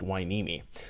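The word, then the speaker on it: Hueneme: And yes, that's pronounced Weini.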